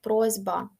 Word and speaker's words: просьба: бути інші тобто наприклад просьба Ось бачите с стане з але можете собі навіть